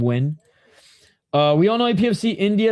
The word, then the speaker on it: Nguyen: It's like win. That's how you know I'm a casual MMA fan. When I pronounce Nguyen instead of win.